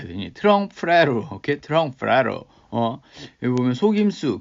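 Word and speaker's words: trompe-l'oeil: 이거 어떻게 발음해야 되니? 트렁프레로.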